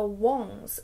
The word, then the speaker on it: Wong: The name Wong, which is his surname, means king, and it's like a very respectable surname, and so moving to America where it's pronounced Wang and becomes somewhat of a joke was a bit of